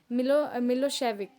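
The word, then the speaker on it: Milošević: तो distant narrow minded shrubs nationalist होते जो थे मिलोसेविक जो थे, जिनको हम लोग प्रोनाउंस करते हैं मिलोशेविक, ठीक है, मिलोशेविक।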